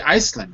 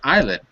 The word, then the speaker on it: island: rest you didn't say you didn't say Iceland did you you said Island rightand good good I